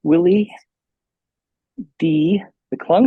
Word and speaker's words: Willie D McClung: We have Willie D McClung.